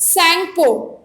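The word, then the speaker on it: Tsangpo: And when it flows through the Himalaya it is called सैंगपो, टी is silent.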